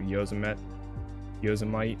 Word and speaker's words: Yosemite: Yosemite. Not might.